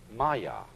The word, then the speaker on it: maya: And in Indian philosophy, the fundamental word for this kind of thing is the Sanskrit term maya. I'm going to write that down for you pronounced Maya.